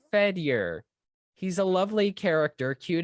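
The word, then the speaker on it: Fedyor: i already said that it's fed your ow f-e-d i mean if you want to pronounce it weird five it's fed year he's a lovely character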